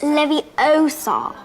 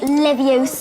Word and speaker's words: Leviosa: someone's eye out besides you're saying it wrong it's leviosa not livio during the course of